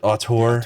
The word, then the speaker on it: auteur: I'm not gonna be able to pronounce it. What is it? Auteur.